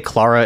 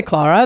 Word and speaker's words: Clara: an additional upkeep Clara Clara I don't know they say claraa in the show but I think that's more British pron British it's probably because they're British yeah we'll say claraa that's how they pronounce it uh impossible girl